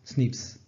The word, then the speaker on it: SNPs: The genetic information represented in these datasets typically pertains to a large array of single nucleotide polymorphisms, abbreviated to SNPs and pronounced SNPs.